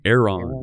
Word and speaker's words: Aeron: How's it pronounced? The Aeron? Aeron, yeah.